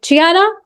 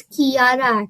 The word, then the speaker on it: Chiara: Chiara, have you completed your prayer? My name is pronounced as Kiara actually.